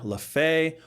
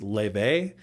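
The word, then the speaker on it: Laufey: legit, God of War Lafay or I guess the right way to say is Lebe.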